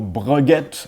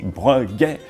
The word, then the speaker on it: Breguet: So for the next one, Breguet, same as what I just said, no Breguet, silent T, Breguet. In English, one tends to accentuate the E, like saying Breguet, but in French, simply Breguet.